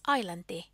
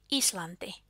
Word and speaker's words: Islanti: The language of Iceland, Icelandic, was pronounced as Islanti, when it should be Islanti.